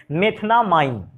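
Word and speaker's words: methanamine: अंग्रेजी में इसको उच्चारण अगर करते थोड़ा सा इंग्लिश में से, मेथनामाइन, AMINE के कारण उसको एमाइन बोलते हैं।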